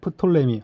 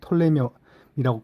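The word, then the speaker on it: Ptolemy: 명칭은 뭐 프톨레마이오스라고 긴데 그냥 학문적으로 그냥 프톨레미 혹은 요 피가 묵음이기 때문에 톨레미라고 그렇게 부르고요.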